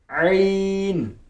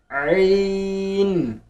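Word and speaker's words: عين: आइन। आइन। आइन, आखिर में नून की साउंड आएगी, आइन।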